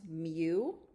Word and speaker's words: mu: And this is pronounced mu.